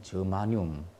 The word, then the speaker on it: 저마늄: 게르마늄을 요즘에는 이제 저마늄이라고 이렇게 발음을 잘 하더라고요. 근데 뭐 예전에는 게르마늄 이런 말을 더 잘 썼죠. 하여튼 저마늄 이런 것들이 바로 순수한 반도체입니다.